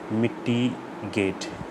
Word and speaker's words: mitigate: Pronunciation is मिटिगेट. मिटिगेट. Gate, it's gate, G-A-Y-T, gate. It's not mitigate, G-A-T, it's G-A-Y-T as it is pronounced.